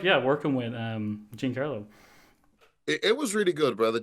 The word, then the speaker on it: Giancarlo: It's Giancarlo, isn't it? Giancarlo, yeah. Irish again, we pronounce everything wrong.